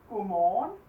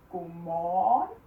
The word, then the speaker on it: godmorgen: Godmorgen. Godmorgen. So you just stretch it. Godmorgen.